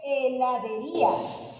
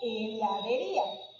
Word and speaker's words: heladería: Miren acá, hay otra, dice heladería. Si se dan cuenta, no suena la H, solo dice heladería.